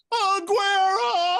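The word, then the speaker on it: Agüero: to say his name you need to say it the right way Aguero one of the greatest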